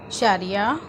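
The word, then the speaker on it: syariah: SYU के जो spellings हैं मलय में, वो उनकी आवाज़ शीन से आती है।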